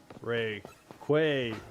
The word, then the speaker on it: Rayquaza: But at the uh at the championships, they put it on like a screen and said um Rayquaza is pronounced Ray Quaya.